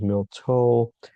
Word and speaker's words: miltha: So, uh it here it says milk, uh miltha, or miltha. You saw another place it was milto.